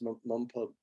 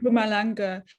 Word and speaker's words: Mpumalanga: It's Mumpamala. Mpumalanga. Yeah, Just drop the M, so then it becomes a bit easier. Mpumalanga.